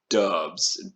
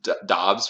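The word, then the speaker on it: Romeo Doubs: i know i know romeo dubs dobbs romeo dobbs i think we're gonna go with that i've heard every single pronunciation of his name he has looked amazing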